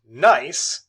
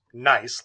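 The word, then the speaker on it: gneiss: of metamorphic rock called nice that's how it's pronounced g-n-e-i-s-s pronounced nice like oh that's not nice so nice the acosta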